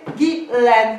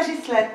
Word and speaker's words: Ghislaine: Mon prénom, c'est Ghislaine, pas Ghislaine, ok? Attends, t'as changé de prénom, t'as fait comment? Je n'ai pas changé de prénom, c'est simplement qu'ici, à Paris, on prononce Ghislaine.